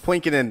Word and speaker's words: Poikonen: It's Poikonen. That's how you pronounce it.